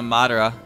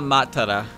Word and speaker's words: Matara: please rave me okina matara it says there's a tea in her name okina is a cool